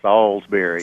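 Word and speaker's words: Salisbury: and the other is hearing people call it Salsberry it's not the Stak it's a town it's salsbery Salsberry yeah and Chad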